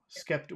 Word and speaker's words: skeptical: Skeptical. Where's the big sound in that word? Uh, Kep. Skep. Kep. Skep. Kep. Yeah. Skep. Okay.